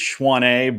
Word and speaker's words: Schwann: It's Schwann, but it's French. If you pronounce it correctly the first time, it's probably because you're fluent in French.